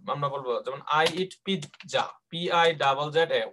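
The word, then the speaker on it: pizza: বলবো যেমন আই ইট পিৎজা, PI ZZA। উচ্চারণটা খেয়াল রাখতে হবে, এটা কিন্তু পিজা না কিন্তু। হ্যাঁ, এটাকে বলা হয় পিৎজা। পয় রস্বইকার খণ্ডত, খণ্ডত্ব আছে না একটা, পিৎজা। উচ্চারণ হবে পিৎজা, আই ইট পিৎজা।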